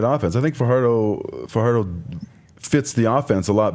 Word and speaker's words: Fajardo: Yeah, I said Fajardo. According to McCullough. So it's Fajardo. He's still saying Fajardo? Well, how about after this we go for some fajitas? No, it's Fajardo.